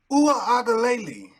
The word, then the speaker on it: Uiagalelei: DJ Uiagalelei is how you say it.